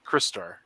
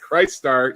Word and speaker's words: Crystar: Not Mask, Crystar. Thank you for pronouncing the name of that property correctly, Shane. As our fearless leader called it Christar, even though he's a crystal.